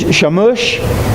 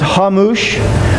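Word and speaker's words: חמוש: The word there that's used in the Hebrew is shamush. It's actually pronounced hamush.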